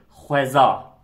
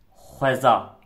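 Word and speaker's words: xweza: H ve beraber okunduğu zaman diye bir ses çıkıyor.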